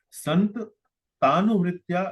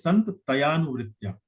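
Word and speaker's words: सन्तत्यानुवृत्त्या: Sant Tanuvritya you pronounced like this, but it is Sant Tayanuvritya. Let us look at the screen. Yes. Sant Tayanuvritya. So the word is Santataya and then Anuvritya.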